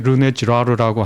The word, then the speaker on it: 르네 지라르: 관계됐다라고 이것을 맨 처음에 문화인류학적으로 구조적으로 밝혀낸 사람이 르네 지라르라고 하는 한 학자입니다. 아주 위대한 학자인데요. 지라르요? 네, 르네 지라르.